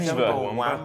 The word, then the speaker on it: Chumbawamba: There's no U. No, you. It's Chumba. Y instead. Chumbawamba. Chumba. Chumbawamba. That's it.